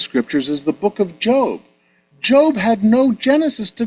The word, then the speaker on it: Job: But uh we pronounce it Job.